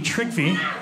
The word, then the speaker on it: Trygve: His name is Trickvi. Yeah. T-R-Y-G-V-E. Trickvi.